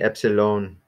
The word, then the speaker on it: epsilon: okay well I guess I guess technically EPS alone I guess is where you would say I tend to say epsilon so that's how everybody